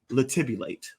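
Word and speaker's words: latibulate: up the definition uh the word is liulate okay yes labate it's spelled l a t i b u l a t all right all right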